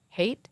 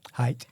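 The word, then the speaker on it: Haidt: us and that's from Jonathan hate height height is how his you say his name well great well that's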